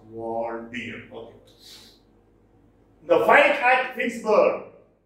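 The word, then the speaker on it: Waldere: So this talks about the advantage, the exploits, the heroic deeds of this legendary king, Walter Aquitaine, that is Waldir. It is pronounced Waldir.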